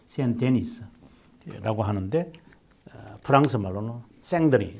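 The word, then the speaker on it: Saint-Denis: 그 다음에 아울렐리아누스 시기에 세인 데니스. 근데 이제 이 세인 데니스라고 되어 있는데 이것이 이제 프랑스 사람이군요, 이 사람이. 그래서 발음을 뭐라고 하느냐면 생드니라고 그래.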